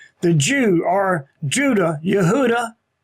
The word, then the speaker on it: Yehuda: that you are Judah Yehuda is the actual way you should pronounce that is that this is